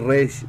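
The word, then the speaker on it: ריש: que res pues obviamente al decir res el la pronunciación de la letra es pues como la letra r para nosotros en nuestro idioma y efectivamente la r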